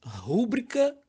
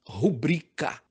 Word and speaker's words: rubrica: E, por incrível que pareça, rúbrica não existe. O certo é rubrica, tá certo?